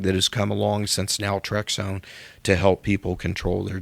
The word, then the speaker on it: naltrexone: You know, the thing when you describe is it naltrexone? Is that how you pronounce it? Naltrexone. Naltrexone. Yeah.